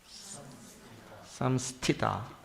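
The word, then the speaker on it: संस्थिता: Samsthita. Because I hear too many different pronunciations down at the end there.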